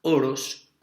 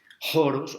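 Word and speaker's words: ὅρος: oros, o oros, o con la otra pronunciación erasmiana que no me gusta porque yo hago la pronunciación de los grecos, joros o joros, pero es que eso suena como a joros, el espacio, bueno, no, me quedo con la pronunciación greca, oros, para no enredarnos la vida.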